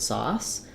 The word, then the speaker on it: sauce: backward C and then letters c typically say the S sound and they do as well in this word sauce so I might write it as sauce um I'm using two s's here because if I write sauce um that's like the plural of um one saw to cut with and the that s is a z sound so for sauce sauce